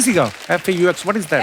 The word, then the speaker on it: faux: और दिखाइए भाई, ये फॉक्स की सीगा FAUX, what is that? X को प्रोनाउंस ही नहीं करते। फॉक्स फोफर। फोफा तो एक्स नाम नहीं लेना उसका, ना, साइलेंट है वो।